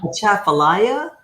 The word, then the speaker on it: Atchafalaya: Atchafalaya.